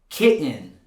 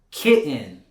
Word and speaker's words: kitten: You can still say mountain, kitten, and Britain. That's 100% correct. But in spoken English, most Americans don't pronounce it like that. They'll rather replace it with this glottal stop.